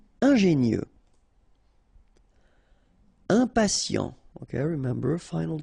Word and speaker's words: ingénieux: Final X not pronounced, so I-E-U, I-E, nieux. Ingénieux. Ingénieux.